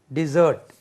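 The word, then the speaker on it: dessert: running running race नहीं running race running pudding डिजर्ट eaten at द एंड ऑफ स्वी टन एनी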